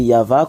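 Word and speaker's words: Yahweh: y avit qu'ils ont écrit ici mais c'est yava qu' on le prononce nous le voyons en gros et en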